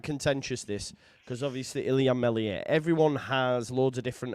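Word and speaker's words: Meslier: to me about ilam melier well I love MZ silent s honestly I think he's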